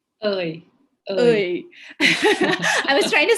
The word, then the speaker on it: Aoi: How do you pronounce her name? Ơi. Oi.